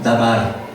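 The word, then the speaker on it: דבר: Se pronuncia dabar.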